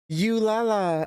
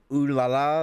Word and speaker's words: ooh la la: I'm pretty sure nobody wanted to actually call him or tell him like, "Hey, Mike, you just pronounced that wrong. It's actually ooh la la, like ooh la la."